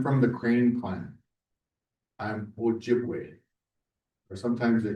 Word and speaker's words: Ojibwe: I'm Ojibwe, or sometimes they call us, but in our language it's Ojibwa is how you say it.